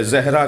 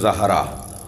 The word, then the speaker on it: زہرا: کر رہا ہوں کہ ہمارے ہاں اجلت میں جلدی میں زہرا کہہ دیتے ہیں، صحیح تلفظ زہرا، زال پر زبر۔ کہتے ہیں یا رسول